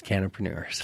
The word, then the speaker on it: cannapreneurs: Yes, cannapreneurs.